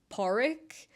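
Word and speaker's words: Pádraig: that is your name is like obviously the English version of poric so poric is the Irish for the name and poric is spelled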